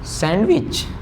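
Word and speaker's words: sandwich: यहाँ पे एक चीज ध्यान रखिए, डी और जी का कॉम्बिनेशन जब भी आए तो डी का प्रोनाउंसिएशन नहीं होगा। जैसे मैंने लिखा सैंडविच, आई होप आपने कहा होगा सैंडविच। जैसे मैंने लिखा वेडनेसडे, आई होप आप लोगों ने सबने वेडनेसडे ही कहा होगा।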